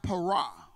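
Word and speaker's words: פרע: unrestrained the Hebrew word y'all perish it is pronounced Parag and the word and the biblical proverb speaks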